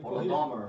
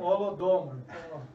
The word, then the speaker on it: Holodomor: Holodomor, acho que é assim. Isso. Holodomor. Como é que é a pronúncia? Holodomor. Holodomor.